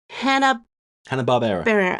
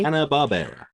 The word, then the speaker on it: Hanna-Barbera: I'm kind of jumping all over the place, but I do want to talk about is it Hanna-Barbera? I always say it wrong, don't I? Hanna-Barbera.